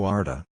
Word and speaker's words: Ardagh: Ardagh like Ardagh, but softer, with no H, so Ardagh.